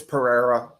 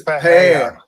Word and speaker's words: Pereira: Yeah, Frank told me it's Pereira. I I I Guess what? Frank is wrong. It is So, you're saying it's Paeya. Paeya.